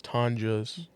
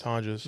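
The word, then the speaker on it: Tonges: pronounce his I don't even know how to pronounce the guys. I've been saying tongues this whole time. Yeah, I looked it up on those 49ers uh media guide. It's Tanjas. Tanas. Tanjas.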